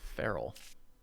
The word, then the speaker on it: Feral: some value here oh never heard it pronounced furo before it's feral he's a wolf lord